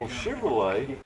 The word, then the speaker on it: Chevrolet: Chevrolet. That's how we say it in West Texas. Dad, what make of car is that? It's a Chevrolet. Chevrolet. See, out here it's not Chevrolet. Chevrolet. No, you didn't say it right.